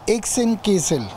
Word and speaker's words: Hexenkessel: se ambienti Sí el nombre se dice exen kisel que es significa el